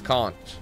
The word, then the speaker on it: conch: So we're looking for a word that rhymes with honk. Quite interesting. Grimmy knows this one. It's conch. Conk? Like conk?